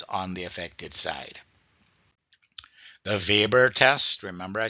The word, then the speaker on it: Weber: The vber test, remember I said you even though it it's spelled vber, it's pronounced I mean it's spelled